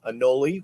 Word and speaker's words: anole: i say it too anoli rhymes with cannoli now this is our